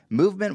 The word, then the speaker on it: MVMT: you pulling it off and VMT watches pronounced movement was founded on the